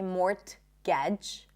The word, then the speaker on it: mortgage: More words with silent T. Mortgage. We don't say mortgage, right?